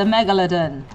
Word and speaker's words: megalodon: It's the megalodon. Contrary to some popular YouTubers' pronunciations.